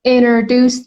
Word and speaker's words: introduced: She introduced me or introduced me. میتونین تی بعد ان رو که اینجا استرس نداره دراپ بکنین. Lazy pronunciation آمریکایی.